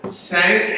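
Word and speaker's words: SANC: Coalition otherwise known as sank and somebody said to me earlier sank rhymes with thank and I think that's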